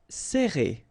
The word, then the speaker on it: serrer: All right, so interesting here because you get this E and then double R after that. So it will open the sound of E, okay? So you will pronounce it like E.